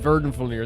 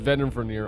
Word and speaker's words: Vedenfulnir: I keep calling him Verdenfulnir. It's Vedenfulnir.